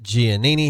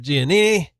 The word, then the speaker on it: Giannini: Giannini. And am I saying it right? By the way, I that's correct, isn't the That's correct correct. pronunciation? Yes. Giannini.